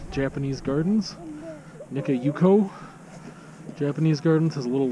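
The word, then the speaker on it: Nikka Yuko: okay slow down i'm going to mispronounce it nico japanese gardens nika yuko japanese gardens has a little light festival that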